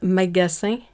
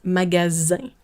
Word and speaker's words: magasin: And then the S, because it is stuck between two vowels, it is pronounced like a Z or Z instead of a S. So it's not magasin, it's magasin.